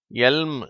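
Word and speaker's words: elm: ஆனால் அடுத்து மூன்றாவது வார்த்தையும் நான்காவது வார்த்தையும் சொல்லப்படும் பொழுது L உச்சரிக்கப்படுகிறது. அதாவது மூன்றாவது வார்த்தையை எல்ம் என்று சொல்ல வேண்டும், நான்காவது வார்த்தையை ஃபில்ம் என்று சொல்ல வேண்டும்.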